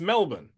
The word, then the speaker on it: Melbourne: It's Melbourne.